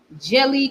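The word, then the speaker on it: Djèlí: Jelly Clark. So the D is silent.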